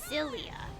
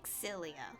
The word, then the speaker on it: Xillia: the sense that during the name is not Lilia it's Xillia like the exes pronounced more and that's actually proven with how